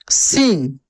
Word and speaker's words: सिंह: है रामानंद सिंह, रामानंद सिंह। देखिए क्या, ऐसे सिंह, ठीक है ना? तो ये बिंदी होता है, आधा ना के रूप में उच्चारण इसका होता है, सिंह।